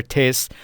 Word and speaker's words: Tisch: The German example I began the chapter with, der Tisch, this word to me sounds like the start of the word tissue.